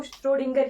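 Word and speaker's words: Schrödinger: वैसे तो श्रोडिंगर ही इसकी प्रोनाउंसिएशन होती है, बाकी अपने हिसाब से सभी पढ़ते हैं, ठीक है।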